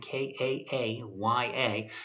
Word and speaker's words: Kaaya: But again, going with a freshman quarterback, Brad Kaaya, I think that's how you pronounce his name, Kaaya, who was a 4-star recruit out of a California high school.